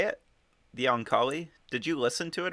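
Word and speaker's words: Oankali: you say it the ankali did you listen to it or read it i read it i am guessing based purely on phonetics there that it's own kali yup okay that's kind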